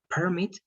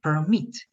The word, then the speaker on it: permit: Read in the second syllable. So permit. Permit is going to be the action of giving permission to someone, right? Permit. But a permit is going to be very close to a license, right?